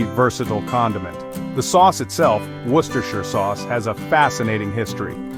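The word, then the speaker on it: Worcestershire: The answer, and try saying this one after a couple of pints, is Worcershir, pronounced roughly Worcershir, not Warchestershire, as many an unsuspecting visitor has attempted.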